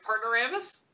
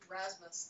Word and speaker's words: Rasmus: Did I get that right? Partneramus? Rasmus, though. Rasmus. Definitely Rasmus. Rasmus.